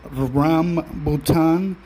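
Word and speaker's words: rambutan: also described um pronounced Ram bhan r a m as in mom uh bhan RAM bhan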